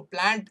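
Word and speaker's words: Plantae: लेकिन ये लैटिन में कन्वर्ट करना है दोस्तों, लैटिन में, तो लैटिन में प्लांट लिखते हैं प्लांट, प्लांट हाँ, उसको प्लांट प्रोनाउंस करते हैं, प्लांट आई नहीं बोलना.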